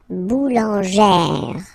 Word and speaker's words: boulangère: Remember, when you get this E plus this accent grave, you pronounce it like E, really open E sound. Okay, so boulanger, boulanger, and then feminine form, boulangère, boulangère.